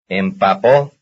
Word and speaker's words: empapó: As far as stress is concerned, here are two words which belong to the same family, since their stress falls on the last syllable. Number 42. Empapó.